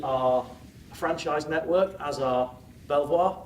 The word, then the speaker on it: Belvoir: franchised Network as our Belvoir I want to say beaver because that's how it should be pronounced hear hear